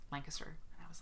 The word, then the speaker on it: Lancaster: yet um and i said it wrong it's lancaster i was at quilt con and i was